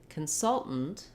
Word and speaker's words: consultant: So we have consult, consultation, and finally consultant Two different ways you heard me say that, right?